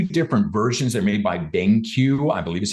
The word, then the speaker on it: BenQ: They're made by BenQ, I believe is how you pronounce it, B-E-N-Q.